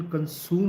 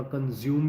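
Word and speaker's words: consume: अब right pronunciation कंसूम होता है, बट लोग कंसूम की जगह कंज्यूम भी बोलते हैं, बट इट्स ओके.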